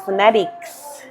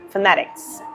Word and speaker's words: phonetics: don't pronounce it as phonetics or phonetics. I pronounce it as phonetics. So it's between the I and the E.